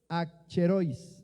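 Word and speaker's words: ἀχρεῖος: Se pronuncia a cherois, así a cherois, pero la a es parte y la a significa sin y cherois necesidad, provecho.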